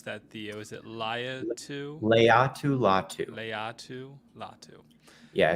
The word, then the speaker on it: Laiatu: Is it Laiatu? Latu. Latu. Yeah, it's pretty straightforward based on how it's spelled. Latu. Laiatu.